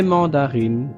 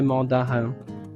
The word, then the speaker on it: mandarines: Parce que quand une voyelle est juste derrière le N de la voyelle nasale 1, la voyelle nasale s'élimine. Donc on ne prononce plus un sinon on prononce ici le i et le son de la N. Donc on dit ce sont des mandarines et non des mandarins.